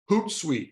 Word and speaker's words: Hootsuite: Hootsuite, Hoot. It looks like an owl.